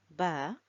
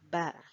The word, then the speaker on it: ب: And Ba is pronounced from the lips. Okay? So you see the letter Ba here. And when we want to pronounce Ba, we will put our lips together and we will release the sound B, B, Ba, B, Ba.